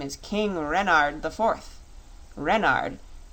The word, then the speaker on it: Renard: is King Renard IV Renard with the accent on the ren what's Ren asked button